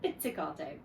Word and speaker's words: pizzicato: Okay, so I'm playing the cello now pizzicato. Okay, so that nice long word, which is actually quite easy to spell, pizza, carta, but we pronounce it pizzicato, okay, an Italian word.